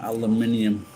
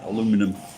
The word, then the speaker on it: aluminium: Going to go and take some aluminium to the scrapyard, or as you Americans say, aluminum. See you later, pal.